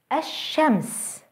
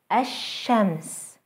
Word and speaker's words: الشمس: Let's try to pronounce a word that starts with an L followed by a sun letter. الشمس, الشمس, the sun.